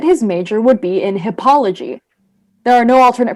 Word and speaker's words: hippology: The veterinary student decided that his major would be in hippology. There are no alternate pronunciations, just hippology.